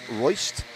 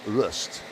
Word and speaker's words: Rust: Now, so you know, Devian says it's Royst, you know, and Spencer's dad said, well, actually, you know, we say it's Rust, so it's Rust. Spencer Rust is the correct pronunciation of that name.